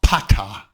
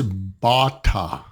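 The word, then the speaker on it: Ba Ta: so many messages now it's not Pata it's Bata let's go learn your ABCs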